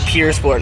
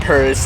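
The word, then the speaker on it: Pur Sport: w16 there we go it's actually the pure sport not purse it's the way they pronounce it in French now the 300 plus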